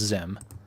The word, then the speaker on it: Xim: It's spelled Xim, but I'm assuming that's pronounced Zim. Yeah, I would pronounce it Zim.